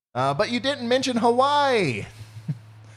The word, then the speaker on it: Hawaii: but you didn't mention Hawaii or Havi as I learned on Tik Tok the other day Havi that's how you say it the I made